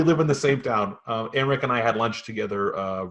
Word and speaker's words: Aymeric: I'm talking with Aymeric Manello. Hey, Jordan. Did I pronounce that right? Yeah, you're good.